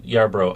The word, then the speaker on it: Yarbrough: I had someone tell me once it reminded them of Marlborough, but so I like to think of Edinburgh, but yeah.